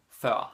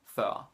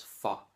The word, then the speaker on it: før: Or, jeg kom før ham. Jeg kom før ham. I came before him. Exactly the same as in English. Før. It's very important that you don't pronounce it as for.